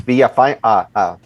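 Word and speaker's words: Villafaña: It's Villa Fine. The N is silent.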